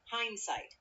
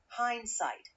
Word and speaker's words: hindsight: Hindsight is pronounced hindsight. Hindsight. part, hind, rhymes with find. And the second part, sight, is like sight in eyesight. So, it sounds like hindsight, hainsaito in Japanese katakana.